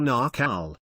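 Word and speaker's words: Naacal: earth in this cycle it was called the nakhole or nacal rhymes with mccall mystery school where they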